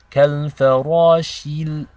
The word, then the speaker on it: كَالْفَرَاشِ: It's not shil. Okay, this is incorrect. So it's very easy to say كَالْفَرَاشِ الْمَبْثُوثِ. But that is incorrect. The correct way to recite it is كَالْفَرَاشِ الْمَبْثُوثِ.